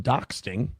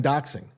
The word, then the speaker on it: doxing: By the way, I'm just for the record, I'm well aware I'm saying it wrong, but I prefer doxting. Yeah, this is a bit they're doing, guys. Did you think they don't know the word? This is a bit. I like that better, doxting, than doxing.